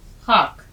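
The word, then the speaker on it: خاک: लिखना भी सीखिए और इसका उच्चारण भी े प्लस अलिफ प्लस काफ खाक अब देखिए ख को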